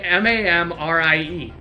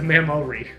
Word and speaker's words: Mamrie: M-A-M-R-I-E. Like the glands? No, that's a Mamori. Mamrie.